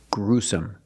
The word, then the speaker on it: gruesome: s Su together gruesome put the stress on the first syllable gruesome it was a gruesome